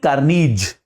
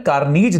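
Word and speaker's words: Carnegie: के लेख लेखक जो होते हैं हां डेल कनीज डेल सी ए आर एन ई जी आई ई इनके स्पेलिंग बड़ी अजीब अजीब होती है कई बार डेल कार्नी ज नाम के लेखक की एक किताब आई थी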